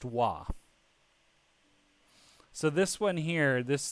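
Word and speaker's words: は: okay so with this wah here that basically this sentence here saying i am a teacher so it's not read as in watashi watashi ha sensei right it is read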